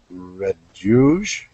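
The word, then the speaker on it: Raduege: by amy m ament red yuge that's r a d u e e uh her as a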